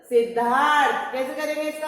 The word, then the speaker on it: सिद्धार्थ: सिद्ध धा, पहले जिसपे ये र लगा हुआ है उसके पहले उसका उच्चारण करते हैं। थ से थन पे र लगा हुआ है तो थ से थन के पहले र का उच्चारण करेंगे।